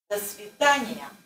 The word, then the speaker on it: До свидания: There's two vowels together. Yeah. And since it's two vowels together, ya is pronounced fully.